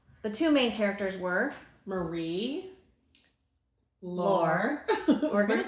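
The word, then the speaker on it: Marie-Laure: It's a French. Yeah. It's we looked it up. It's like Marie. Lore. Yeah.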